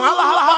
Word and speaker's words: আল্লাহ: পাকের নামের উচ্চারণ হচ্ছে আল্লাহ মুখটা একটা গোল হয়ে যাবে বলেন আল্লাহ আল্লাহ সুবহানাল্লাহ পৃথিবীতে বিভিন্ন